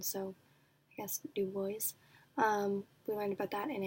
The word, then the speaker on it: Du Bois: wev Du Bois but he pronounces it Du Bois because he's American so I guess Du Bois we learned about that